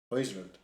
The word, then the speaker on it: Højlund: Højlund. Yeah. Why do you know how to pronounce all these names?